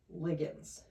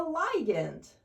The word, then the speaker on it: ligand: you may be thinking, "Hey, that's not how I pronounce that word. I call it a liant." And you would be right. I I don't know why biologists and chemists pronounce this differently, but as chemists, we call these things lians.